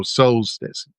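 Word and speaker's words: Soulstice: It's spelled S O U L S T I C E. So, Solstice, you get it?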